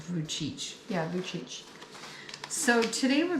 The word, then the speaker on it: Vujicic: Nick v j i i i but it's pronounced vuich yeah CH So today we're going to do